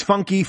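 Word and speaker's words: Funke: character Bob Bobby Funk everyone pronounces his surname wrong yeah it's funky yeah everyone it's the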